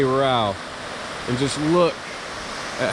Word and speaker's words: Row River: This is the Row River, as it's pronounced here. It's spelled Row River, like rowboat, but they say Row.